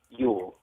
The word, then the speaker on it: Yoel: Yoel is how your name is pronounced? Yule. Yule. Okay.